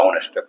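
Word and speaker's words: honest: ऑनेस्ट है। है तो कंसोनेंट लेकिन यहां यहां पर एन का इस्तेमाल करेंगे क्योंकि इसका उच्चारण अ से होता है। ऑनेस्ट।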